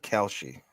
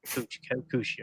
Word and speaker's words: Kalshi: I won't put it on the screen, but how do you say, is it Kalshi or Kalshi Sports, the new gambling service? Kalshi. How would you pronounce it? I've heard Kelshi, yeah. Okay. Or So no, Kalshi, yeah. I don't know. I'm not a doctor. Kalshi, Kushi. All right. Not Kushi.